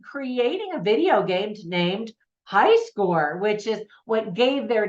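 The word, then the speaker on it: Hyskaor: take over the world called high score now it's spelled h y s k a o r so at first glance you know it looks unique but it's just funny because it's you know high score and then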